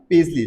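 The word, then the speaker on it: paisley: Pronunciation ध्यान देना, पेजली like ऐसे होगा, PAZLEE जैसे स्पेल होता है, जैसे प्रोनाउंस होता है पेजली, ऐसा प्रोनाउंसिएशन होगा, ठीक है।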